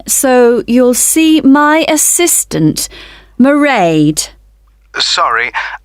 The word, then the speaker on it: Mairead: you'll see my assistant Mairead sorry how do you spell that it's M AI e a D Mairead okay got that it's not a name I'm familiar with oh it's an Irish name she comes from Dublin